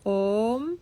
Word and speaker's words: Om: o is always long om o is too Matra om silence that's the the length phonetically of the oh the sound syllable seed syllable theas the seed of all seeds is oh and this is the length om om that's the correct length of the M om so you